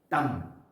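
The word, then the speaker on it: תם: la palabra quieto en hebreo es tam. Tam, sí, con T-A-M, se pronuncia así.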